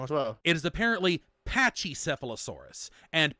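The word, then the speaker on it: Pachycephalosaurus: have to like change um how I say pachy sealosaurus now and pachy rhinosaurus why have changed it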